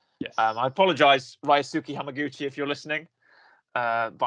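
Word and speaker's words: Ryusuke Hamaguchi: around i've already said it before yeah it's rai suki hamaguchi i know how to pronounce his name yes um i apologize ray suki hamaguchi if you're listening uh but i know to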